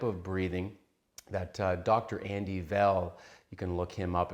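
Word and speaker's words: Weil: Andy Veil, you can look him up, it's spelled W-E-I-L, Veil pronounced.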